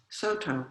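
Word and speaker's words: Sōtō: founded the so dongchan founded saodong school which in japanese is pronounced soto which is our school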